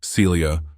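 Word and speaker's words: selje: It is better described by the Norwegian word Celia, pronounced or spelled rather S-E-L-J-E, and it literally means to serve, to sell.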